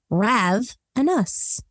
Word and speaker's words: ravenous: further Ado today's word of the day is ravenous one of my favorite words actually spelled r a v n o u s and pronounced RAV an us it's an adjective defined as powerfully hungry intensely